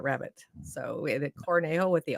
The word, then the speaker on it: Cornejo: I'm I'm getting there I'm learning not to pronounce my J's very good that's a